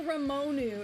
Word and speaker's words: Ramonu: Yeah, I know Ramonu is how it's said, but for whatever reason, my mouth gets like caught up on Majiro Ramonu every time I try